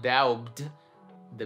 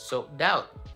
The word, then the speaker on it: doubt: Or doubt. It's not doubt, the B is silent, so doubt. No doubt, no doubt.